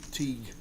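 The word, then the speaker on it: Tieg: x Reb from Taj apparently it's pronounced Teague Teague okay as you like or tag t i e g tag what a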